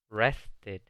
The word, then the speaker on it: rested: I rested. Yo descansé. Noten que otra vez se pronuncia la E. I rested. Porque rest en su forma básica termina en una T.